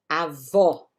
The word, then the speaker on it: avó: Abuela, avó, com acento agudo, tá bom? Esse O é mais estendido.